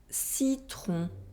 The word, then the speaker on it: citron: Remember to nasalize the sound on and not to pronounce the N or M. Non. Non. Citron.